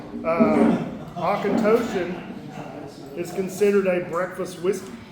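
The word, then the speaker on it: Auchentoshan: So it's pronounced otokentosh going through some whiskey of this group.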